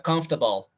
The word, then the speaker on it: comfortable: Pero quizás la más bonita sería comfortable. No van a decir nunca comfortable. Comfortable. De pronto uno nunca lo ha escuchado y sí, le podría decir comfortable. Pero es comfortable. Comfortable, así la pronuncian los británicos y en alguna parte de Estados Unidos.